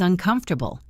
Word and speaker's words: uncomfortable: The opposite is uncomfortable, said uncomfortable. And notice that even with the prefix un at the front, the stress and the pronunciation of the main word stays the same.